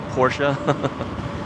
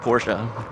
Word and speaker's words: Porsche: It's called Porsche. But no, I've always called it Porsche. It's like Volvo.